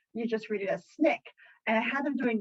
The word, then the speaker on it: SNCC: And I, at the end of class, said, oh, hey, I needed to tell you, it's pronounced SNCC.